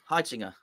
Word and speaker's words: Heitinga: Heitinga.